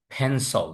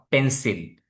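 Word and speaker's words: pencil: American ইংলিশেও ফেন্সল। নট পেন্সিল। ফেন্সল।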